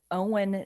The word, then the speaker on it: Oen: Um his name is Owen Nickolsen, but it's spelled Oen.